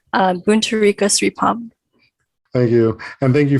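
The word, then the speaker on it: Boontarika Sripom: correct pronunciation so anyone else who wants to pronounce my name um buntu rico sripam thank you and thank you for being on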